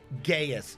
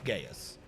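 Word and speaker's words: geas: that he's stuck on gaius g-e-a-s before someone says i said something else it's i might be pronouncing wrong but it's gaius um that whatever the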